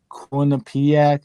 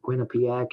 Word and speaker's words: Quinnipiac: I don't know where they're from, but Quinnipiac is. I think you pronounced it right.